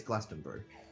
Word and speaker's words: Glastonbury: it's Glastonbury. You don't pronounce the U. Ah, okay. In that case, Glastonbury.